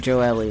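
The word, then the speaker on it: Gioeli: I'm guessing Joely is how it's pronounced.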